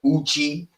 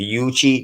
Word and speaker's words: Yuchi: Uh uchi or but you will see it's spelled with a Y, the Yuchi, the Uchi.